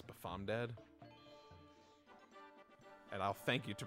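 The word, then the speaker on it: BafomDad: Bamfo dead? I believe it's Bafom dead. And I'll thank you to pronounce it correctly.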